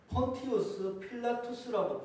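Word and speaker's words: Pontius Pilatus: 정확한 발음은 폰티우스 필라투스라고 불리는 자입니다.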